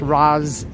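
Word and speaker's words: Ras: last name is b-a-r-a-k-a Ross Baraka but it's pronounced Roz almost like Rosalind but it's Roz Baraka or Razz I don't know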